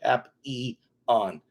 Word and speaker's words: Papillon: That's the best way to pronounce it. Papillon.